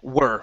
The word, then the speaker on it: were: Were right here, not wore, but were. Okay, so here you would pronounce it as where.